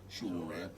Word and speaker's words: Sowore: Omoyele Soworeon.